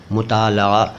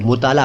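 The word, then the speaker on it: मुतालआ: भी कर लीजिए मुताल आमतौर पर इस शब्द को मुताल कह देते हैं अरबी से आया हुआ शब्द है सही उच्चारण मैंने आपको बता दिया अरबी वाला मुताल लेकिन आमतौर पर हम हिंदुस्तानी लोग मुताल बोलते हैं सिंपली मुताल इसका मतलब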